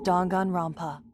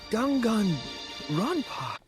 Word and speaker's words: Danganronpa: took place within a fictional World known as dongan Roma why the did she say it like that pronounced dangun RPA you bit dangun Rona yeah that's better you Emo